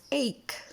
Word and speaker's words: ache: the word ache it's not pronounced H it's pronounced ache so what you do is that you combine